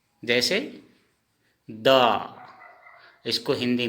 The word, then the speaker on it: দ: इसका उच्चारण हिंदी में ऐसे लिखेंगे थो। जैसे द, इसको हिंदी में हम द बोलेंगे लेकिन असमिया में दो ऐसे लिखेंगे, दो।